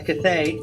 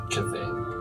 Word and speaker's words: Cthaeh: yeah, well, it's a Cthaeh, very evil entity.